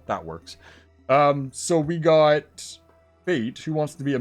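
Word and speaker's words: Faete: So that's F-A-E-T-E, pronounced Fate.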